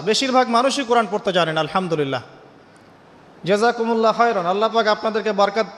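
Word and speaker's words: الحمد لله: মাখরাজ কোথায় বলেন একজন কণ্ঠনালীর মাঝখান থেকে এখান থেকে আপনি উচ্চারণ করছেন আলহামদুলিল্লাহি রাব্বিল আলামীন অর্থ দাঁড়াচ্ছে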